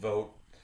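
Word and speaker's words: Voat: build up what is called vote rhymes with goat spelled let go v/o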